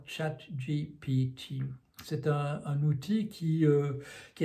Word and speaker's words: ChatGPT: de le franciser, mais quand on le francise ça conduit à la catastrophe, donc je vais m'abstenir de le faire et je vais prononcer ça comme les concepteurs de la firme OpenAI aux États-Unis l'appelle, donc ChatGPT.